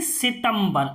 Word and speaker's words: सितंबर: भी आधे नका हुआ अब देखिए पर आधि म का होगा सि तम ब र यानी सितंबर आधे म का उच्चारण हुआ यहां पर मन त्री